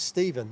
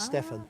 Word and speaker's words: Stephen: No, it's Stephen. Yeah, not Stefan.